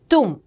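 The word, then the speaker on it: tomb: उनकी correct pronunciation करें इसे टूम नहीं कहते हैं ब साइलेंट रहता है जो बी वाला ये है ये साइलेंट रहता है इट is only टूम टूम okay so इनका किसका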